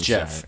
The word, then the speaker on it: Geoff: do find out yes his name is Jeff Johns I'm gonna say job this entire time it's Jeff I know it is but how it's spelled it's Joff so why can't you just say it right I'm never gonna say